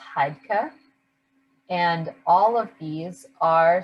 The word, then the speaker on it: Heidke: It's pronounced Heidke.